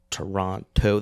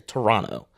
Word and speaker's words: Toronto: Um, Americans always pronounce the Toronto. They always pronounce the second T, right? They always annunciate through Toronto, but most Canadians just say, especially Torononians, just go say Toronto, right?